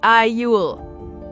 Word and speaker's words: aisle: Also, remember the pronunciation of aisle. Right, isle.